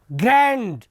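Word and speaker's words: grand: और तुमने ग्रैंड father कहा, भाई विश्व स्तर का उच्चारण है ग्रैंड, और ग्रैंड में भी डी है जो साइलेंट है.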